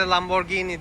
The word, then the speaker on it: Lamborghini: anlamıyla bir dünya kenti İngilizcede Lamborghini diye okunuyor bu Türkiye'de Lamborghini diyorlar araç bir trafik cezası